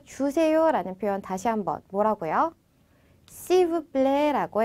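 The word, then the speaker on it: s'il vous plaît: 시브플레라고 해 주시면 됩니다.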